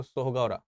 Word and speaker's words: सोहगौरा: ठीक है, तो ये जो सोहगौरा है या सहोगरा है, मेरे ख्याल से इसको सोहगौरा लिखना ज्यादा ठीक रहेगा, मैंने सोहगौरा ज्यादा पढ़ा है इसके बारे में। तो सोहगौरा, सोहगौरा इसका सही प्रोनाउंसिएशन होना चाहिए।